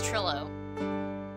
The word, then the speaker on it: Trilo: That's how you say it, it's Trillo.